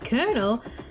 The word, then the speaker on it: colonel: Okay, so it's been a while, but originally it was actually pronounced correctly, and it came from the Italian word colonnello. Then at some point in English, we changed it to coronel to honor the Spanish origins of it, you think? And over time, corrupted into pronouncing it colonel, but eventually the spelling was changed back to reflect the original word, but we pronounce it the same.